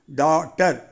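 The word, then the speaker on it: daughter: ஏ யூ ஜி ஹெச் இது ஒரு கஷ்டமான வார்த்தை உச்சரிக்கும் போது தப்பு வரக்கூடாது டான்னு தான் உச்சரிக்கணும் இந்த வார்த்தையில நாம வந்து யூ ஜி ஹெச் இந்த மூணு எழுத்துக்கும் ஓசையே இல்ல டா அப்புறம் டி இ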